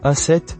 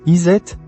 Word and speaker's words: Aset: Son nom, en égyptien ancien, se prononce Aset, ou Iset, et il signifie tout simplement « le trône ».